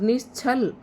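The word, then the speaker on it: निश्छल: उसके बाद है निश्चल और निशछल इसमें च है। उच्चारण अच्छे से करना है और इसमें छाता है।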